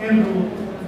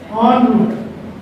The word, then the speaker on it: en route: And this is not en route. This is en route.